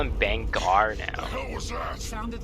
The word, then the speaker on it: Bangar: legion explosives come on didn't it just be bang r like bang r not bengal i don't know i think i heard it pronounced both ways so maybe maybe it's